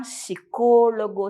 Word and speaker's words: psicólogo: o psicólogo né psicóloga no espanhol a gente já vai suprimir esse p e já vai falar psicólogo psicóloga se escreve da mesma forma é a mesma profissão Mas aí tem a fonética já um pouquinho diferente e logo em seguida